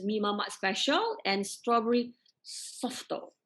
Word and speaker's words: Softo: mamak special, and strawberry softo. Okay, that's how it's Softo. pronounced. Bukan saputo, softo. Siap And Google lagi, softo.